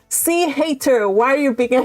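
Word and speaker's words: Hayter: that is so good hater and that is how his name is is pronounced because I watch the adaptations and that's how they say his name his name is literally Charles hater oh I love it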